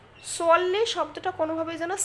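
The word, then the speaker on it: صَلِّ: সোয়াল্লি শব্দটা কোনোভাবেই যেন সাল্লি না হয়। আমি যদি সাল্লি পড়ি তাহলে এখানে আরবি হরফ সিনের উচ্চারণ হবে, সোয়াদের উচ্চারণ হবে না। এই সোয়াদ শব্দটা একটু মোটা করে পড়তে হবে।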